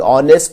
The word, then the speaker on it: honest: और इससे पहले वाली एग्जाम्पल में जो कि ऑनेस्ट था वहां पे एच प्रोनाउंस नहीं किया जाता. वो वर्ड ऑनेस्ट जो है वावल साउंड से स्टार्ट होता है, वहां पे एन का इस्तेमाल हुआ.